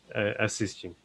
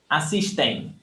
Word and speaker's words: assistem: So people from São Paulo say assistem. Here where I live, assistem. In Rio, assistem. So this is all correct.